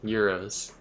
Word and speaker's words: Gyros: confuses to why uh giras or how do I pronounce that although Euros Euros like like like a European Euro uh Euro yeah okay Euros yes Euros either ours